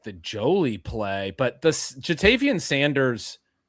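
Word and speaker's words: Joly: I I got to say Justin Jolie, you always look up the pronunciations. I thought it was Jolly. And the fact that his name might be Jolie instead of Jolly moves him up at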